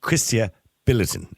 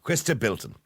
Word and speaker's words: Chrysta Bilton: wrong again is uh chrisa biltin is is it biltin or bin it's Christa B there you go Christa Bilton Christa I do apologize